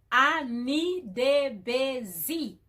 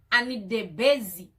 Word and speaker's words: Anidebezi: And then my name, Anita Busy, some people doesn't know how to pronounce it. It's like it's hard. It's just Anita Busy. Anita Busy.